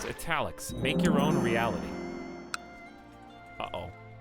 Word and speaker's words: Etalyx: It's pronounced Etalyx.